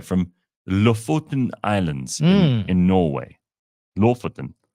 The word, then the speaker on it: Lofoten: Lofoten. That's how they say it.